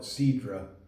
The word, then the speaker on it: Cidre: to try their cider, or as they call it, Cidre. They spell it S or Cidre, Cidre.